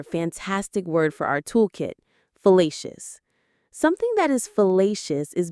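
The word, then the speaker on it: fallacious: It has three syllables. Facious. Fellacious. The stress here is on the middle syllable. Le facelious. Let's say it a couple of times. Fellacious.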